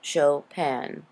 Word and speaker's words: Chopin: to the podcast for Kate chopan it is pronounced chopan Kate chopan lived from 1815 in 1904 she